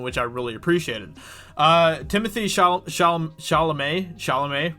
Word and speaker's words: Chalamet: Timothy Chalamet, right? Isn't that how you pronounce his name? Yeah, Chalamet.